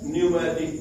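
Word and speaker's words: pneumatic: क्या कहते हैं, न्यूमैटिक बोन। पी साइलेंट है, न्यूमैटिक बोन, क्या कहेंगे उसको, न्यूमैटिक बोन।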